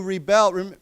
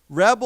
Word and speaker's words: rebel: all know this, but rebel or rebel, right? Rebel is the person, right? He is a rebel, right? But as a we say we pronounce it differently. we say to rebel. Okay. So the the accent is different.